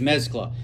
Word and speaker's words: mezcla: All right, so I've asked the powers that be, how do you say, it's mezcla. It actually is mezcla.